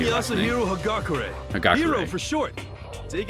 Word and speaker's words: Yasuhiro Hagakure: Yasuhiro Hagakure. I think that's how you say it. I'm Yasuhiro Hagakure.